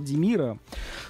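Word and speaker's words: Hvaldimir: знаменитого кита шпиона хвал димира норвежская сразу сканово Т вот в норвежском языке когда буква H а за ней буква V так вот H не читается это димир а не валдир они просто переставили две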